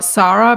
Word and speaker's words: Sara: Hi, I'm Sara, or Sara, because then it rhymes with Kara.